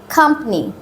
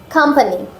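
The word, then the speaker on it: company: ওয়াই সাধারণত আমরা বলি কোম্পানি বা কোম্পানি ওয়ার্ডের উচ্চারণটা হবে কোম্পানি দেখো খা খাম্পানি কোম্পানি কোম্পানি কোম্পানি তাহলে ডোম আর এটা সাম এরপরেরটা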